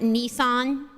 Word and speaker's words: Nissan: Do you guys pronounce it Nissan? Sorry, my Australian is coming out.